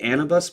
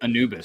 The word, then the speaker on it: Anubis: but it's the the Anabus protocol. King Anabus protocol. It's got an Egyptian theme. It's pretty cool. Anubis. So Anubis. Anubis. Thank you.